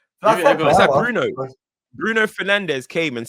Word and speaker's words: Fernandes: They're like, why are you calling yourself Bruno Fernandes? Yeah. It is Fernandes. It is Fernandes. Yeah. That's how the Portuguese say it.